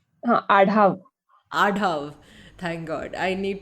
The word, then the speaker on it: Adhav: welcome adav is it correct did I pronounce your surname correct huh adav adav thank God I need to learn pronunciations